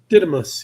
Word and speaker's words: Didymos: had already shown that the smaller asteroids orbit orbit around Didymos. Am I pronouncing that right? Didymos? Didymos, yeah.